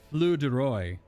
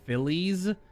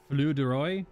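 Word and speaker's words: filles du roi: this move is pronounced flew deroy i think it's it's spelled f-i-l-l-e-s like phillies but i do not believe it's pronounced that way it's frank i believe it's flu deroy potentially but because uh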